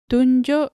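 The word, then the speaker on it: tunjuk: tell directions and etc the u in the first syllable is pronounced like mulan in the disney character and the u in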